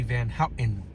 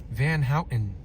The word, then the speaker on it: Van Houten: When I was growing up, people used to say Van Houten without pronouncing the T. Van Houten.